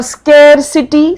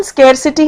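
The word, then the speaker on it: scarcity: होता है जरूरत और स्केसिटी स्केरसिटी मतलब होता है कमी हो गई है किसी चीज की इसकी प्रोनाउंसिएशन स्केरसिटी है जबकि बहुत लोग इसको स्क्सिटी स्क्सिटी कहते हैं वो नहीं है और इसका एक और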